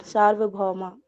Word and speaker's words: सार्वभौमा: सर्व नहीं है, सार्व है। जी सर, सार्वभौमा जी। जाति देश काल समया नवछिन्नः सार्वभौमा महाव्रतम्। हाँ, छिन्नाह, आ की मात्रा का उच्चारण करना, और भौ, भौ के साथ में क्या है, डबल औ की मात्रा है, भौ माह महाव्रतम।